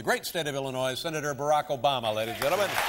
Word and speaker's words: Barack Obama: get that funny name Barack Obama although they say you know you had a top ten list but you missed a couple ways to mispronounce brocco bomb there was Alabama and yo mama but my father was